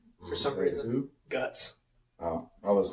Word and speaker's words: Guts: Gats. Which is how it's said in the manga. For some reason. Who? Guts.